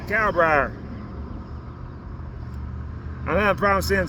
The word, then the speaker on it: Kalbrier: K-A-L, B as in boy, R-I-E-R, Kalbrier. That's how you pronounce it, Kalbrier.